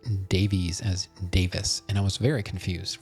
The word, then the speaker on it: Davies: Um, and another interest his name is Greg Davis but it's spelled Davies. D- A V I S. So it it seems like a lot of people pronounce Davies as Davis.